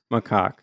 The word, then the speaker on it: macaque: How to pronounce macaque. You ready to listen to this? Okay. Here. How do you go about pronouncing this one? Macaque. You do want to stress on the second syllable.